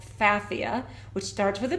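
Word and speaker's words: Pfaffia: kind of fun but just remember that the p is silent so it's spelled the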